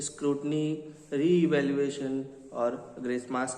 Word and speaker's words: re-evaluation: कह सकते हैं, लेकिन कुछ स्टूडेंट्स हैं जो री इवैल्यूएशन को ठीक से प्रोनाउंस नहीं कर पाते। उसको रीवॉल्यूशन कहते हैं या रो इवैल्यूएशन कहते हैं।